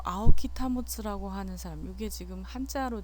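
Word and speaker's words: 青木保: 제가 현대에 대해서 얘기하는 이 PPT 자료는 요 아오키 타모츠라고 하는 사람, 이게 지금 한자로 되어 있어서 읽는 걸 안 써놨군요. 아오키 타모츠라고 읽는 이름을 읽는데, 이 아오키 타모츠라고 하는 사람이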